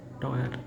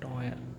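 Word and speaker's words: teuer: the comment section yes toyer toyer toyer is a the one right you can find it here this one to right to means expensive toyer toer o EU word combination gives as o sound right o to okay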